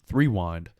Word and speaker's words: Threewind: It is pronounced Threewind, as in rewind, sports, on every single social media.